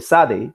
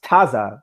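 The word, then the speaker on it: tsade: to concede that the the sade which is pronounced tazza by last remark or - proponents was incorrect yeah it comes to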